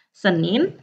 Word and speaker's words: sedan: Lalu ada måndag, Senin. Terus ada tisdag, Selasa. Lalu ada morgon, tulisannya morgon, dibacanya moron. Moron itu pagi. Pagi. Dan sen atau sedan, tulisannya sedan, dibacanya sen ya.